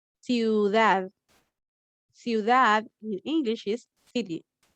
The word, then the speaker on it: ciudad: The CI is pronounced C, ciudad.